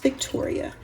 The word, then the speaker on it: Victorie: Hi YouTube family, welcome back to my kitchen at VICTORIE, pronounced Victoria.